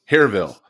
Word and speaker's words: Hillaryville: But if I want to be true to the area, I got to pronounce Hillaryville with no L's. So how do I say it? Oh my gosh. Yes, indeed. Hillaryville. Hareville.